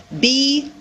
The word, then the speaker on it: bomb: So we have, listen, comb with the vowel sound O, tomb with the vowel sound oo, and bomb with the vowel sound ah, bomb.